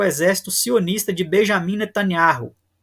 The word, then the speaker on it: Binyamin: Em que afirmou que apoiará com todos os nossos meios uma ação contra o exército sionista de Benjamin Netanyahu, ou Binyamin Netanyahu, conforme uma pronúncia aí mais israelense, né?